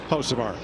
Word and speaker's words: Hocevar: Now here's his teammate Hocevar, who said on social media this week there is a B at the beginning of Hocevar. He says they dropped it because the B is silent.